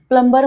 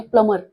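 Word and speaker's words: plumber: उच्चार कॉली असा असतो प्लमर मध्ये बी सायलेंट ठेवायचा आणि प्लमर असा उच्चार होतो आपण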